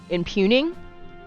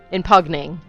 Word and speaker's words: impugning: We may need to investigate the rift itself to prove your motives are beyond in impuging. Impugning. That's definitely the correct pronunciation.